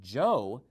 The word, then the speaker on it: yo: but he was pronouncing it Joe because he had learned Spanish in South America.